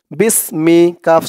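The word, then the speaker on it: بِسْمِكَ: বা দিয়ে এই সিন ধরবে, বা সিনজের বিস, মিমজের মি, বিসমি, কাফ জবর কা, বিসমিকা, বিসমিকা, আল্লাহুম্মা বিসমিকা, আল্লাহুম্মা বিসমিকা।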